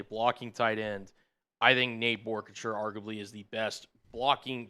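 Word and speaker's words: Nate Boerkircher: Nate Borchers. Is how you pronounce his name for those of you who were wondering at home.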